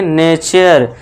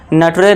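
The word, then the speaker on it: nature: पढ़िए fourth rule देखिए जब वर्ड के लास्ट में यू आर इ आए तो यू आर इ को आपको अर से पढ़ना है। यह ध्यान देने वाली बात है। ठीक है दोस्तों? इसे क्या पढ़ेंगे? नेचर नटरे नहीं पढ़ना है। नेचर इस तरह से फ्यूटरे नहीं फ्यूचर। यही ध्यान इसी में ज्यादा गलती होती है दोस्तों।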